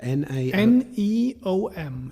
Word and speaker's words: NEOM: Neom.